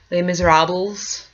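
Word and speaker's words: Les Misérables: Again, funny, I was just discussing with some family members my deep love of Les Miserables, Les Miserables, for those of you who don't actually know how to say it.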